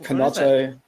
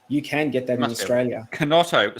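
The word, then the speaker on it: Chinotto: Kinotto, spelled with a K, is it? Kinotto. It's spelled with a C-H-I. Ah, C-H-I. C-H-I-N-O. I'll check it out. T-O.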